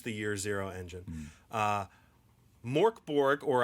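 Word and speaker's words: Mörk Borg: year zero engine uh mork borg or i think what the swedish pronunciation is supposed to be murkborg whatever um you say mirkborg i say morkborg close enough close enough but so it is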